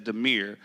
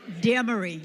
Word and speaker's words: Demery: lost on the island, it says Demir. I'm not certain. Does anybody know the correct pronunciation? It's Demery. It's Demery.